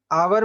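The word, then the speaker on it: hour: आवर या एन आवर आवर में एच जो होता है वह साइलेंट होता है तो ये हम बोलते नहीं है बोलते हैं आ का आवाज तो जब वोल का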